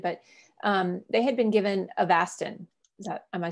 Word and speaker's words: Avastin: your talk started, but they had been given Avastin. Am I saying it right? Avastin?